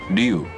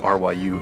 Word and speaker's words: Ryu: listen to an example, I don't think anybody would think of pronouncing R-Y-U as Ryu. Oh. They would always say Ryu, because that's the way it would be pronounced.